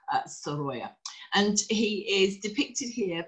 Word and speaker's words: Sorolla: the way and also how to pronounce his name which is as I said sya and he is depicted